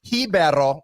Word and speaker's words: Ribeiro: don't really understand obviously Ribeiro we're talking Portuguese at that point if it was Brazil you would do hibero the age pronunciation at the beginning of the word Nick I regret bringing